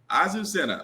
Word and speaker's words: Azucena: Azucena.